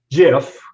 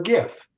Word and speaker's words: GIF: in terms of pronunciation i know you prefer jiff okay i prefer gif but i can tell you why okay because you don't pronounce your name gilliam no of course not it's pretty cool exactly so your g is a j okay but i'm kind of fond of the word guru so i pronounce them gifts and so the point